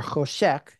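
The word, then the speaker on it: חושך: It's that idea of the het sheen, that sharp separation, or choshek, as it's pronounced.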